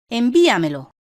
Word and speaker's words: envíamelo: Ejemplo: envíamelo. La palabra envíamelo, de 5 sílabas, es sobreesdrújula porque tiene la fuerza de acentuación en la sílaba anterior a la antepenúltima, vi.